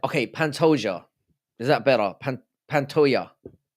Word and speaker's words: Pantoja: Pantoja is like Dijon. Pantoja.